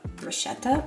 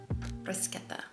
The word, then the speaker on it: bruschetta: It's kind of like a deconstructed bruschetta? Bruschetta? Bruschetta, right? Not bruschetta, bruschetta. I think I learned that it's pronounced that way like last year.